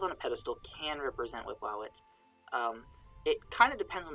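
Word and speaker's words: Wepwawet: represent the deity that is usually called in Egyptological pronunciation Wipwawet.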